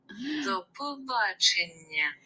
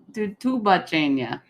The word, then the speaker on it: до побачення: You're putting extra syllables.